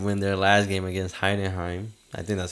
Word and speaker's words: Heidenheim: Bayern did win their last game against Heidenheim. I think that's how you pronounce their name.